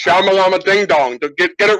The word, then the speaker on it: Shyamalan: Night Shyamalan, and since I never pronounced his name correctly. And it's Shyamalan ding dong.